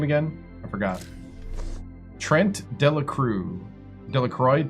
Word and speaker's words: Delacroix: Delroy. Delacroy. Trent Delroy. That's how you say it.